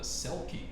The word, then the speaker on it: Selkie: Not only is it a shapeshifter, it is also a water creature, and it even rhymes with Kelpie. It's called a Selkie.